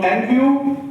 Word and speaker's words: Envu: सो एन व्यू का जो sound सही जो प्रोनाउंसिएशन है कई लोग बोलते हैं ना एन एन व या कुछ इस तरीके से बोलते हैं तो this is एन व्यू inspired by environment विज़ तो एनवायरमेंट के